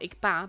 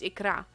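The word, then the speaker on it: Икра: I only learned like a few days ago that it's not Ikpa, but it's Ikra.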